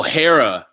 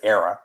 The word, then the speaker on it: Hera: Oh, Hera. Yeah. I always pronounced it Hera, but yeah, Hera.